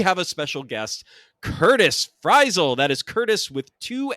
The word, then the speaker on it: Frisle: already heard we have a special guest Curtis frel that is Curtis with two s's cuz he is just that badass and fral correct me if I'm wrong Curtis uh with two s's but I believe that's pronounced like fival Like An American Tale fral